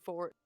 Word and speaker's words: forte: they're turning back into fort um would you say it's their forte god i only learned like late in life that that word's supposedly actually pronounced for not forte really i forgot about that